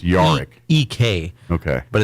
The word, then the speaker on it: Jarek: Yarick. It's spelled Jarek. Jarek. Like J-A-R. It's pronounced Yarick.